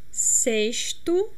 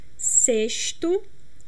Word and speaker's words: sexto: We can also pronounce sexto, sexta. This is more a carioca accent. This is how people from Rio de Janeiro pronounce, like me. I personally pronounce sexto, sexta, sh, with a strong X, sh. But some regions of Brazil pronounce it in a more soft way, like sexto, sexta, like an S instead of X.